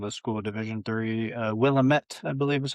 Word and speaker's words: Willamette: Willamette, I believe is how you pronounce it.